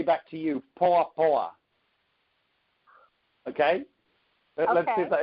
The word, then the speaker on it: poa: And and if he says Niaje to you, you say poa poa.